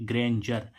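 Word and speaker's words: grandeur: डी ई यू आर तो डी के बाद क्या आ रहा है ई यू आर आ रहा है तो हम इसको क्या पढ़ेंगे ग्रेंजर ग्रेंजर मींस क्या होता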